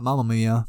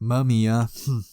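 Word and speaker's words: Mamiya: artist named takako mamia not M Mia but mumia but yeah this is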